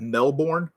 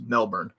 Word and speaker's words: Melbourne: melbourne okay so i used to say that melbourne uh and then i um ran into i